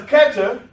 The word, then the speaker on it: Keter: Because Keter is also spelled with an H there, but the H is silent.